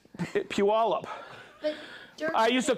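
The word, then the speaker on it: Puyallup: got corrected when I was in Oregon it's peal up but I used to call it pulley up derk's been watching you I've been watching oh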